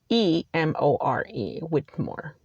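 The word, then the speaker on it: Whittemore: it's not spelled as you would think it is spelled w-h-i-t-t-e-m-o-r-e whitmore so she has one count felony charge which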